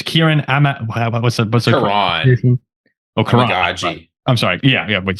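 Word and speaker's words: Kiran Amegadjie: Oh, Karan. Amagaji.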